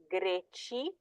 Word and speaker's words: greci: So these do not take the pronunciation of the K or the G, they actually take the Ch with the soft I sound.